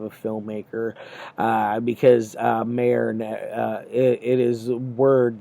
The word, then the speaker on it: Meir: is the uh and it is actually pronounced mayor uh i thought it was meyer's archies archive uh something like that but um it's mayor but either way um